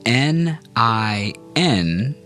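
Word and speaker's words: 您: Now let's practice saying N I N in the second tone together. That's pronounced nin ning.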